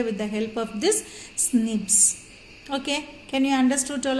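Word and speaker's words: SNPs: in the human being so they have said single nucleotide polymorphism so that pronunciation snips okay nips so snips means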